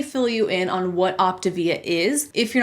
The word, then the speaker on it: Optavia: which by the way is pronounced optivia not optavia like a lot of their own reps seem to pronounce it according to the company's own videos their own promotional material their own website all these things they pronounce it optivia so that's how I'm